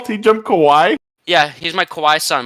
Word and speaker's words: kawaii: Hello, TJump, my little kawaii son. So, here's my argument. My argument is, I'm bringing the cosmological argument. Did you call TJump kawaii?